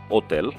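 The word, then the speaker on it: hotel: দিয়ে একটি উদাহরণ হচ্ছে হোটেল, এটার উচ্চারণ হবে ওতেল, কারণ হচ্ছে ইটালিয়ান ভাষায় এইচটি উচ্চারণ হয় না, আর ওতেল মানে হচ্ছে হোটেল।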